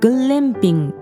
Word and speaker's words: 글램핑: そして韓国のグランピング、グレンピングって発音するんですけど、